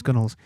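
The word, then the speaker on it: gunwale: Um, and it's it's spelled gun whales as in whales, the animal gun whales, but to pronounce gunnels.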